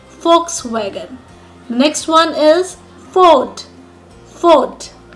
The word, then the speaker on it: Volkswagen: It's a German car and the right way to pronounce it is Volkswagen. Volkswagen.